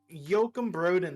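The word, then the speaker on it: Joakim Brodén: that's how you say his name uh Yokum Yokum Broden the guy who sings for Sabaton he he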